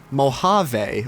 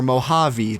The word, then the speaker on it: Mojave: new Mac OS called Mac OS Mojave or Mojave depending on how you pronounce it and pretty sure either one is right maybe just mo jave